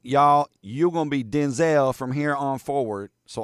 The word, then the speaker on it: Denzel: He told Jimmy Kimmel his name is not pronounced Denzel. Quote, "My name is pronounced Denel," Washington continued, using a clipped e vowel in the second syllable instead of a long vowel. Denzel. Denzel.